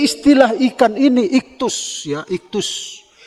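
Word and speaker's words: ἰχθύς: Nah, jadi istilah ikan ini iktus, ya, iktus. Ikan, iktus, bacanya itu iktus.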